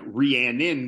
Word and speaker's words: Rhiannon: could also have the name like Rhiannon, where you have an H but you don't say the H.